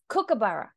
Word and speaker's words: kookaburra: It's kookaburra. Oh. Say it. Cook. Like a cook in the kitchen.